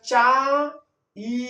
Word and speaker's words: চাই: চ আ ই আমরা চা ই এভাবে কিন্তু উচ্চারণ করতে পারবো না। চা আ কে টানতে পারব। কারণ আ হল পূর্ণ স্বরধন। কিন্তু ই কে টানা যাবে না। চাই। ই কে টানলে এর উচ্চারণ অর্থ সবকিছুরই যেমন একটা ভিন্নতা চলে আসতে পারে।